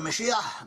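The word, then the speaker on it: מָשִׁיחַ: In Hebrew, the word Messiah, pronounced in one Hebrew, Mashiach. Mashiach is someone anointed, someone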